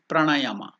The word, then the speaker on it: pranayama: can read the spelling I am taking you through the pronunciation of the step pranayama p r a a is elongated that is D PR